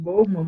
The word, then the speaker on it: Bowman: se pronuncia esse nome? Bowman, boa, alguma coisa?